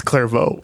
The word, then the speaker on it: Clairvaux: It's Clairvaux. Clairvaux? Clairvaux. Clairvaux? Yeah. But it's not spelled that way.